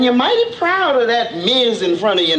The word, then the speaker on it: Ms: Anyway, to make things equal, we have this new designation in front of our names, MS, pronounced Miz.